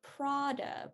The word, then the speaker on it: Prada: right here we have prada prada um over here we're gonna have that ah sound or the aw sound and then this one